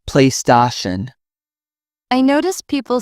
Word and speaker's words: PlayStation: Some pronounce PlayStation with stress on the sta. It's PlayStation.